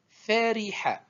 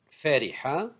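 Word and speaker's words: فَرِحَ: Donc le verbe en entier, on le prononce dhahika. C'est le verbe rire. Verbe vocalisé suivant, fariha. Le même, pareil plutôt pour ce verbe, il a trois voyelles, fatha, kasra, ensuite fatha. Fariha, je répète, fariha.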